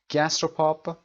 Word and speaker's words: gastropub: at his gastropub تلفظ gastropub استرس قسمت اول gastro که امریکنش gastro میشه و بریتیشش gastropub هست.